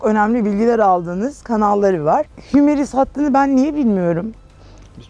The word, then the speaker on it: Hymer: mıydı derken ilk öğrendiğimiz Hümer'di. Ama biz tabii Hümer olduğunu yaklaşık 2 aydır biliyoruz. Hymer deyip duruyorduk biz. Yani telaffuz öyle. İngilizce okuyup Alman firması Hymer. Hymer diye böyle bir de R'leri söylemezler onlar.